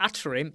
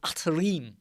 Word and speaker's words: Atarim: it right didn't i it's not atrium it's atarim atleem right what do i